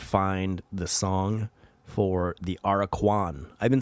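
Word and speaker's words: Aracuan: the song for the araquan i've been saying it wrong have i been saying the aura qn are a q on or i don't know what i've been saying but it's araquan bird araquan and listen to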